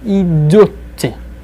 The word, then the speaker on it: идёт: I would just like to focus on the pronunciation, especially of the third person singular. Идёт. Идёт. He is going. Хорошо? Be careful with that. Say it just as I'm saying it.